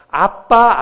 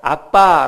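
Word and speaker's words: אבא: 오는 아가 모입니다 내의 아람어로 아빠 라고 하는 마름 어 당시 유대인들이 자기의 아버지를 친근감있게 부를 때 부르는 호칭이 아빠 였습니다 그녀로 참 신기하지 않습니까 우리나라 말과 이 발음도 똑같고 그 의미도 똑같아요 우리나라도 아빠 하면 아버지를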